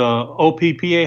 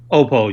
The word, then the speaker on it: Oppo: No, the OPPA. How do you pronounce it? Oppo, yeah. Oh, Oppo, whatever. Oppo.